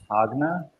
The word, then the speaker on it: Jagna: And this town's claim to fame, I guess, it's spelled Jagna, pronounced Agna.